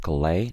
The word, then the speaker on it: Calais: to Calais by the way guys this is pronounced Calais not Calais it's a city in northern France